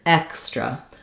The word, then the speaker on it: extra: So if I'm saying extra, X is the stressed syllable, letters EX in that word. It has the X sound, and then I have my S blend here, extra.